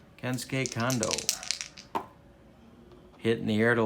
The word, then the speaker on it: Kondo: So Ford will face the top of Japan's order, Yamada, Kendo, and Suzuki.